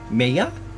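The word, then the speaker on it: Mejia: That's how I would pronounce it, because I naturally pronounce the J with a Y sound when I see it anymore, just because I've read a whole bunch of other stuff where you just do that.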